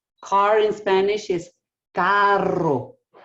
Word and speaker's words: carro: car in Spanish is Carro so you roll that R can I see how